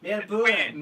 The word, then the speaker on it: Melbourne: And we don't pronounce the B-O-U. Melbourne. Melbourne. Melbourne. Melbourne, like B-U-N.